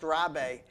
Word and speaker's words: Rabies: I wanted to do a Frenchman, but it's spelled rabies but pronounced rabe.